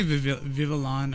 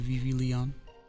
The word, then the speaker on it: Vivillon: I always say its name wrong. I used to say Vivillon or Vivilion or something like that back in the day. Unless you guys say something. Okay. Alright. Vivi Leon. Vivian's fine. That's how you say it.